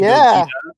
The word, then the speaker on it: Gogeta: But do you have to say the G? It has to be Gogeta. Yeah, because it's Vegeta. It's the second part of what his did name.